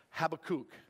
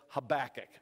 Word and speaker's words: Habakkuk: years could you preach Habakkuk again some people pronounce it have a kook okay personally I would not want to be called a kook so I prefer the pronunciation of Habakkuk all right you will find how back tucked